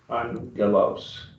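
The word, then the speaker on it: ἄγγελος: Two gammas together are pronounced as NG. So this angelos. So the first gamma gets an N sound, and then the last one has a G sound.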